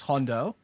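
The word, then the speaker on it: Jondo: this place, which is Hondo. Okay. So this is spelled Hondo with a J.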